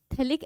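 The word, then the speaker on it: phthalic: और यहां पे थैलिक एसिड प्रेजेंट होता है, पी साइलेंट होता है।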